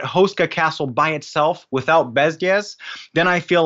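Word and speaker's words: Bezděz: Bezdes? It's a very soft D, but it's not so Bezdes.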